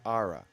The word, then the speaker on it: Ara: Is it Aura or Era? How do you pronounce it? All right. Ara. So I gave two options and there was a third, which I obviously missed.